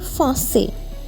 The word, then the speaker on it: français: Je parle anglais without the pronunciation of S, anglais, hindi, H silent, et français. Again without the pronunciation of S.